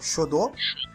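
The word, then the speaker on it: 書道: São, o Fernando pode me corrigir na pronúncia, mas eu vou tentar dizer aqui que é o Shodo.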